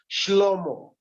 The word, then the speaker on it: Shlomo: I hear the Hebrews, they pronounce him as Shlomo.